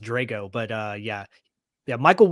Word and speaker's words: Drago: That's exactly who actually I think his last name is pronounced Drago, but uh yeah.